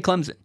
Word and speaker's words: Clemson: I say the college in South Carolina, I say Clemson with a Z, like a Z sound. And I occasionally get crap for it. Like, there's no Z sound in Clemson. Well, I'm not going to lie. That's how I say it.